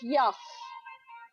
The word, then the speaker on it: Yuff: Pronounced Yuff. Y-U-F-F. Yuff.